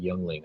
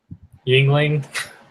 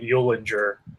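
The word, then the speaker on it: Yuengling: That's like Youngling. I don't get that here in Texas. Yingling. Yeah. One of my roommate's little brothers, he had no idea how to pronounce it, so he called it Eulinger.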